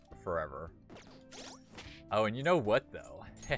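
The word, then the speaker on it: を: I'm not entirely sure what's after your O. And also, it wouldn't be hiragana O, it would be hiragana wo, which is pronounced O.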